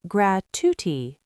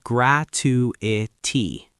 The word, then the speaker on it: gratuity: Gratuity. 4 syllables. Some people say gratuity, and that's wrong. It's gratuity.